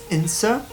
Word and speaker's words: Cintsa: Pronounced Insa, I think. I can't quite pronounce it right. There's like a sound going on in there.